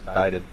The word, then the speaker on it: indicted: That's how you pronounce it, is indicted. Indicted. The C is silent.